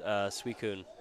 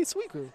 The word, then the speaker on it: Suicune: It's not even C-I, it's C-U.